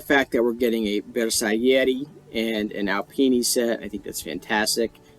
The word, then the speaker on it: Bersaglieri: So I love the fact that we're getting a Bersaglieri and an Alpini set. I think that's fantastic. And by the way, guys, you don't pronounce the G in Bersaglieri. Alright, that's not how you pronounce it.